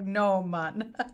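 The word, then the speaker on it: Gnomon: do you pronounce it nomen nomen school for visual effects in Hollywood yeah it's not gnoman even though it looks like Noah it's like no mun sorry currently a man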